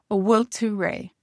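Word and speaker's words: An bhfuil tú réidh: Now in Connacht, they would say a will. You kind of don't hear this N here. A will, and this BH is pronounced like a W. A will to ray.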